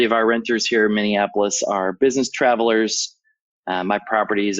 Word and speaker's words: Minneapolis: I find it really hard to pronounce that. Minneapolis, no worries.